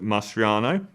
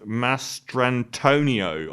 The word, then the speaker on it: Mastrantonio: to Manny, his best friend, to Mary Elizabeth Mastriano. Is that her name? I always say her name wrong. Who plays his sister and things. Mary Elizabeth Mastrantonio.